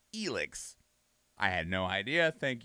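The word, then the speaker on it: Elex: initial like reveal for this and i was pronouncing it alex and i have been corrected because apparently the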